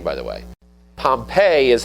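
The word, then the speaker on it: Pompeii: Pompei is how you pronounce the city.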